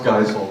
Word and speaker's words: Geisel: But it's pronounced Geisel because somehow Geisel sounds kind of greasy.